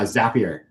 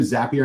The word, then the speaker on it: Zapier: Uh, Zapier. I heard I listened to an interview. Zapier makes you happier is how you got to remember.